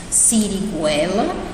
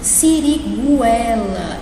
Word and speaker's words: siriguela: Nós temos siriguela e linguiça. Olha aqui, siriguela, eu pronunciei o U, não foi?